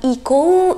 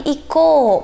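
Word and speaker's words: いこう: Oke, yang terakhir ini ada huruf U yang tidak dibaca teman-teman. Jadi ini fungsinya untuk memperpanjang huruf sebelumnya. Misalnya pada kata iko, jadi ini bacanya bukan iko ya teman-teman, tapi iko, menjadi ko-nya tuh jadi panjang seperti itu.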